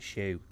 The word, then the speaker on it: Hsu: it's the one with the name Hsu but you pronounce it Shu chimpo mon man all